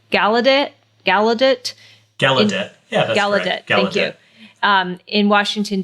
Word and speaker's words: Gallaudet: it's about um I don't know if I'm pronouncing the name of the University correctly gallaudet gallaudet gallaudet yeah gallaudet thank you um in Washington DC that's where